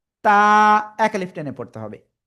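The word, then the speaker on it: تاء: জিহ্বার আগা উপরে দুই দাঁতের গোড়ায় লাগাবেন, লাগিয়ে উচ্চারণ করবেন। তা, এক আলিফ টেনে পড়তে হবে, তা।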